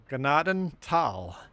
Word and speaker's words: Gnadenthal: And ignore the TH. It doesn't make a thal sound. Gnadental.